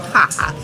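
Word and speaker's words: Jaja: it's same brand of the tequila is called haha it's spelled j Aja a but it's pronounced ha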